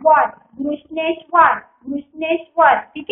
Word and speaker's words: घृष्णेश्वर: जैसे G H R U S H घृष, N E S H नेश, W A R वर घृष्णेश्वर, घृष्णेश्वर ठीक है, घृष्णेश्वर.